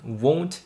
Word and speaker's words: won't: 발음 주의하셔야 됩니다. won't, want, won't, want. different. 이거는 won't 입술을 이렇게 둥글게 마시고 벌리지 말고 won't, won't, won't 이렇게 발음해 주시고 want, want하다는 입이 딱 양옆으로 째지기 마련이거든요.